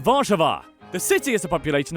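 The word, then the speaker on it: Warszawa: largest city is warsa which in Polish is pronounced vva the city is a population of around 1.7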